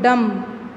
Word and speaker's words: dumb: Okay, so here drum, m is pronounced, but dumb, b is not pronounced, b is silent.